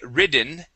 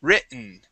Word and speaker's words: written: In most cases, the double T does sound like a D. Okay, I do say most cases because, for example, if we have the word written, okay, we would, instead of pronouncing that written, we don't say ridden, we would say written. Okay, and we swallow, or we use a silent T there, okay?